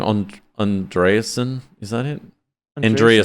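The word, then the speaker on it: Andreessen: how do you say his last name on andreasen is that it Andrea said that's it Mark andreasen I don't know why I blanked on that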